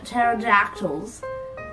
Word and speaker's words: pterodactyls: why can't you hear pterodactyls go to the bathroom because the pee in pterodactyls is silent the comedy lies in